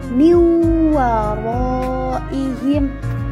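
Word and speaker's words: من ورائهم: Maka tata cara membacanya sedikit digunakan dan ditekan menjadi miwaraihim.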